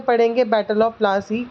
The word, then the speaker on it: Plassey: Which is battle of प्लासी। सो नाउ वी are going to learn प्लासी नाम कहाँ से पड़ा। प्लासी एक एंग्लिकाइज्ड प्रोनाउंसिएशन है प्लाशी की, पलाशी जो वर्ड है, एंड द प्लेस डिराइव्ड